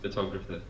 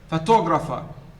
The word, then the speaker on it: photographer: So in the first word, it is the first syllable. The second syllable. The third syllable. So the first one should be, listen now to me. Photograph, photographer, photographic.